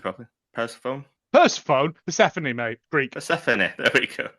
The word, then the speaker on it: Persephone: How do I pronounce it properly? Persephone, Persephone, mate. Greek. Persephone, there we go.